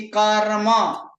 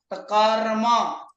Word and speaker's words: कर्म: है जैसे की कर्म कर्म इसमें र का उच्चारण कैसे करते हो बीच में कर्म या र संपूर्ण बोलते हो आधा बोलते किस किसके साथ य संयोग है र और म का संयोग है र और म का तो अंत में क्या अत में किसकी उच्चारण कर रहे हो म म क्या होगा संपूर्ण होगा और र क्या होगा आधा होगा उसी प्रकार कर्म फिर आगे